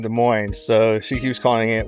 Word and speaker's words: Des Moines: The S is silent, it's French. Des like Moines. Des Moines, it's French, like Des Moines.